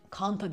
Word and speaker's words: Canta: markası Smart değil böyle Canta mı ne kanta diye okunuyordu Muhtemelen Canta diye yazılıyor ve minicik arabalar ve 45